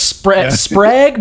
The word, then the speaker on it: Sprague: I think it's Sprague, but like every now and then you'll throw in an A on accident. It's somewhere in there. I like Sprague. Yeah. Because it's spelled like Prague with an S.